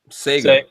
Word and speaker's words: Saiga: How do you say it? Sega shotgun or Saiga? Sega. Sega. Okay, that's what I thought. I thought you said Saiga a second ago.